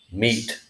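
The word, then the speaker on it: mete: e is the word meat when it means to measure something m-e-t-e meat the e on the end is silent indicating that the e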